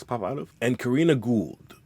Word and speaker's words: Gould: out of and Karina Gould pronounced G like that weird sticky stuff that scientists always have in their labs and like short form